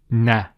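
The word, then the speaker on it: نَ: And this haraka, or this short vowel, has the A sound. The way we would pronounce the Noon with the Fatha would be Na.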